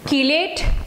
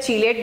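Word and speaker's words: chelate: ये जो कीलेट compounds होते हैं, इसको कुछ लोग प्रोनाउंसिएशन में चीलेट बोलते हैं, इट इज नॉट चीलेट, इट इज कीलेट।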